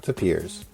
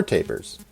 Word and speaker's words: tapirs: show that was titled, This Show Is Not About Tapirs, or Tapirs. Apparently either pronunciation is acceptable.